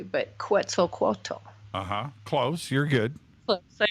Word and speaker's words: Quetzalcoatl: The first word that Einstein ever said to me was, and I will not pronounce it probably correctly, but Quetzalcoatl.